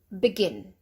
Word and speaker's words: begin: So begin. B, there's your schwa sound, not B or be, just B. Begin, begin.